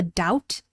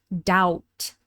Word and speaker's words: doubt: The B is completely silent and the vowel sound is doubt. Doubt.